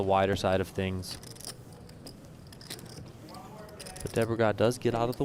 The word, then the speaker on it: Debregeas: I would say Debregeas. Debregeas. I see the name and I just think of Cesc Fabregas.